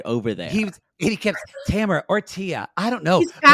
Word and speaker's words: Tamara: I've you know what they said it wrong on uh this on uh Mass singer they kept saying Tamara Oh No It's Tamara I mean yeah yeah